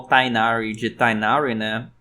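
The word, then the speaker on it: Tighnari: Se a direção de áudio continuou com a ideia de chamar o Tainari de Tainari, né? Enquanto tecnicamente o nome dele seria Tinari, ou acho que é Tinari na pronúncia correta.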